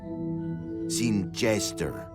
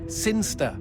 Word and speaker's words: Sinister: Sinister. Sinster. What? It's pronounced Sinster. How do you know? My cousin's from Sinster.